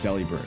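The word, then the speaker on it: Delibird: So, Deli Bird is pronounced Deli Bird. Like in a lot of the Pokemon like manuals and stuff and like the like the physical Pokédexes you can buy, it spells it out Deli Bird.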